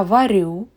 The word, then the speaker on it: варю: Please note that the stress in the first person singular, я, is on the last syllable. And in all other persons and time, it is on the first syllable.